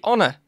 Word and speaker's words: honor: makes sense we miss we don't go howa we don't give horner we say honor so maybe it's not